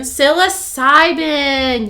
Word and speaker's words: psilocybin: mushroom i always say it wrong uh psilocybin psilocybin yes so actually they were using the red